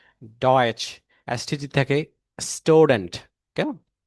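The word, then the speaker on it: Deutsch: যে কোনো SCH যদি কি যেমন শুলে, আর যে TSCH যদি থাকে তাহলে ডয়েচ, ডয়েচ।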